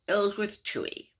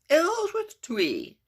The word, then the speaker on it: Ellsworth Toohey: Okay, there's also Ellsworth Toohey. Ellsworth Toohey. Okay, it's no coincidence that it rhymes with worthless hooey.